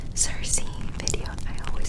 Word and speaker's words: Circe: I actually found out doing this video that in Greek is pronounced Kirke, which blew my mind.